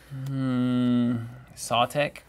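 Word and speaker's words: Sautekh: Let's play another Satika Complex. How do you say that? Sawtek.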